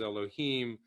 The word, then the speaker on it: Elohim: The dot under the Vav especially tells you should pronounce it as Elohim instead of Adonai a second time.